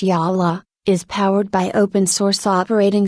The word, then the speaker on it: Jolla: on a new smartphone platform the hoop phone pronounced yaha is powered by open-source operating system sale fish